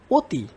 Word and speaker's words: অতি: অতি, অনু মানে অ এর মতো উচ্চারণটা হচ্ছে ও এর মতো আর কি।